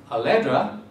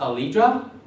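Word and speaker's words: Aleddra: with one l and two d's it is pronounced allegra it is not not a libra allegra or viagra for that matter all right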